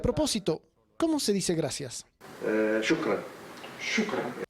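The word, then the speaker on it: شكرا: Shukran.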